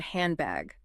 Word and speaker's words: handbag: Or think about the word handbag. Native speakers rarely pronounce the hard D.